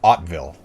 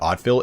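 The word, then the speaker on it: Hauteville: back here okay so ottaville is pronounced ottville okay thank you anthony i thought that if i pronounced it odd fill it would sound like a bastardization so so i actually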